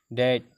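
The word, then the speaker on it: debt: हमेशा साइलेंट रहेगा, always be silent, will be silent. देखिए कम, सी ओ एम बी कम, डेट डी बी टी, यहाँ पे डेट पढ़ा जाएगा, इसको कम पढ़ा जाएगा।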